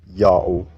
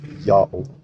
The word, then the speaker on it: Ya'oh: Therefore, it's read as Yao. And the last letter Ha is a silent letter again, still read Yao. His name is pronounced Yao, but to write in